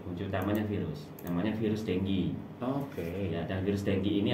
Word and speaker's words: dengue: Dengue fever. Bacanya dengue. Bacanya dengue ya.